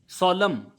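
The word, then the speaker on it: solemn: सोलम, एन इसमें साइलेंट है।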